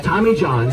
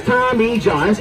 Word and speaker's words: Tommy Johns: My name is Tommy Johns. Only 2 letters, only 3 syllables. Tommy Johns.